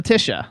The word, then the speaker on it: Leticia: So, first of all, Leticia had Is it Leticia or Leticia? Leticia. Leticia. Leticia. That's mine. The is silent.